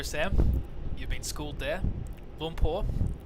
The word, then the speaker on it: Lumpur: Lumpur is how you pronounce. Oh, sorry, Bantam. Lumpur, Kuala Lumpur. Lumpur. Not Kuala Lumpur. Not like Oompa Loompa.